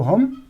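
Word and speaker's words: whom: हुम, तो देखिए एच का उच्चारण हो रहा है, W यहाँ भी साइलेंट है।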